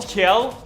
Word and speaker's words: Kjell: Yeah, Tim Gel. Is it Gel or Kel? Kjell.